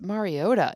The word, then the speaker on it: Mariota: And then I asked Logan Ryan. I'm like, you're friends with him. You played on Tennessee, and he was like, He's like, it's Mariota.